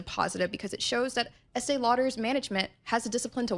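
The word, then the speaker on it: Estée Lauder: it as a positive because it shows that Estee Lauder's management has the discipline to walk away from potential distractions.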